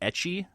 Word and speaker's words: ecchi: Is it ecchi? Is that how you pronounce that, Dave?